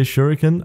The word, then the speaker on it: Shuriken: the shurik particle system there's much debate on how to pronounce that I'll say shuriken I'm sorry if I'm